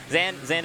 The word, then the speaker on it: Zain: 2nd, 1st, Hbox, Jmook, and Zain at the top.